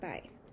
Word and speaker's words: pi: And now we're going to know some facts about pi. First fact, where did the symbol come from? Pi is a Greek letter pronounced like the English letter P and means perimeter.